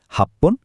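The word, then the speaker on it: はっぷん: কিছু সংখ্যার শেষে উচ্চারণটা ফান না হয়ে পন হয়। যেমন এই স্লাইডে দেখুন, 1, 6, 8 আর 10 মিনিটের জন্য আমরা বলি এপ্পন, রপ্পন, হাপ্পন আর জুপ্পন।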